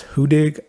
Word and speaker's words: Huddig: we go down here we're talking about the huttig or I've heard it pronounced who dig also but it is